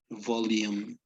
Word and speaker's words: volume: and diastolic volume okay to volume like as as if you had an i between the l and the u volume volume yes and diastolic